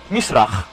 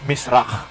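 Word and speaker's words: מזרח: word na mis rak misra no sa mga English Uh readers misra Pero doon sa ah Ano talaga angang pronunciation is Miss rock now tingnan natin kung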